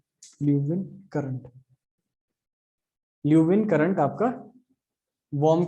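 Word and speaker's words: Leeuwin: अच्छा, वार्म में रह गया ल्यूवियन करंट, है ना, वार्म में ल्यूवियन नहीं लिखा है, ल्यूवियन स्पेलिंग ठीक है, ल्यूविन करंट, ल्यूविन करंट आपका वार्म करंट है, ठीक है।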